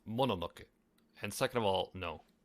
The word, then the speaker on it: Mononoke: First of all, it's pronounced Mononoke.